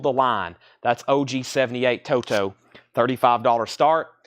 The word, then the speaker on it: Toto: say evidently I say Toto weird it's properly evidently pronounced Toto even though there's no D in it you're not supposed to say a t you're supposed to say a d i still disagree with